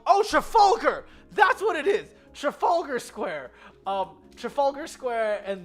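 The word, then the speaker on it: Trafalgar: traf oh trafer that that's what it is Trafalger Square um Trafalger square and then um we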